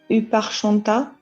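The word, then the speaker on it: ὑπάρχοντα: qui est le mot, pardon pour la prononciation, Uparchonta, voilà, Huparchonta.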